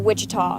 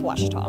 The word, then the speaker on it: Ouachita: University back in Texas everybody pronounces it Wichita but really it's Ouachita Washington how would you